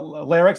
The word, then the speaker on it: Lerrix: on Instagram l-e-r-r-i-x the the Name Lyrics came from squirrel backwards phonetically the word square if you took this word scroll and flip it all right it kind of sounds like lyrics I like squirrels um